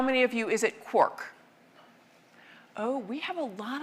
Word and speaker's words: quark: the illusion to three quarks seemed perfect. I needed an excuse for retaining the pronunciation quark despite the occurrence of mark, bark, and mark and so forth in Finnegan's Wake.